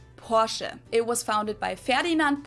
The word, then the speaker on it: Porsche: it Porsche or Porsche in German we say Porsche so there is like this short a sound in the end Portia it was founded by